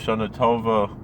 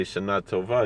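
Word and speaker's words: שנה טובה: rabbi in richmond virginia listen to how how he pronounced shanatova like uh with a little bit of ashkenazi uh um accent he didn't say shanatova he said shanatova which was interesting uh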